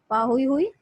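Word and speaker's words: pāhoehoe: तो पाहुई हुई, इसको प्रोनाउंस करते हैं ऐसे, पाहुई हुई।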